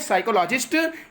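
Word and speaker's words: psychologist: साइकोलॉजिस्ट। यहाँ पे P silent yes से अर्थ निकाल रहे हैं इसका प्रोनाउंसिएशन। 18 पे देखेंगे, 18 पे आइएगा।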